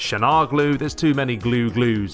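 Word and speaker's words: Çalhanoğlu: you say his name I'm gonna call him Shamu glue because I've looked it up and it's Shan Hana glue its shanaar glue there's too many glue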